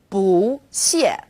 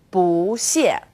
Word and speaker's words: 不: In this case, 不 is special. It's an exception in the world of fourth tones. 不谢, 不客气, 不用谢.